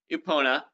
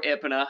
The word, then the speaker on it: Epona: We've got Link, or we'll get to that later, but we've got a hero on Epona, or Epona, however you want to pronounce her name. I've heard it both ways.